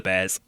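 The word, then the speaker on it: BAER: one of the calmst bears staff ever worked with. It eventually dawned on staff to perform a B a test on her. This is pronounced bear.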